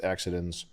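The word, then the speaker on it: Akzidenz: I like this one I think it's pronounced accidens but this this is a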